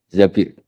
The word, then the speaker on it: Zabir: Di hadis ini bukan bacanya bukan Zubair tapi Zabir.